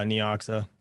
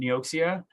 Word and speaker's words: Neoxa: going to have uh neoxa a little bit of that i see i knew i was saying it wrong you know how many people call me out for saying neoxia it's like leoxa what's